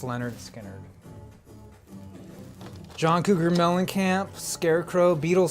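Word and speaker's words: Lynyrd Skynyrd: Oh, pronounced Leonard Skinner.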